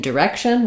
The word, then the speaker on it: direction: of my stress syllable same thing in direction we still have the W as a main syll uh main stress syllable with a clear vowel and our short D Direction but in this final